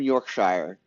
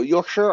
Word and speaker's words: Yorkshire: the year you're from Yorkshire y so Yorkshire or Yorkshire I'm pretty sure it's Yorkshire like Yorkshire pudding right I shouldn't pronounce it like the Shire like it's the hobbit's place to live how how rude of